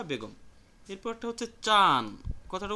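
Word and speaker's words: ちゃん: জনাব বা বেগম জনাব বা বেগম এরপরেরটা হচ্ছে চান কথাটা উচ্চারণ হবে চি এরপরে ইয়া এরপরে উন অর্থাৎ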